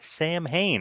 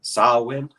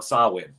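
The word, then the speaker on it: Samhain: show is coming up NWA Sam Hayne I hope I'm pronouncing that correctly I think it's uh it's pronounced sawin they they like they had a like a whole class for all the NWA roster to pronounce for promos and stuff oh my God sawn I think I weird name where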